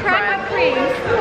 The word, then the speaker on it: Krispy Kreme: To be fair, it is spelt like creme. It's spelt like creme, so I thought it was creme, but then it's okay, Krispy Kreme. Tell us in the comments. Yeah. Comment down below, is it cream or creme?